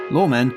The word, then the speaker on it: Loremen: at lawmen podcast comm lawmen is spelled lor e men it's wordplay if you enjoyed series one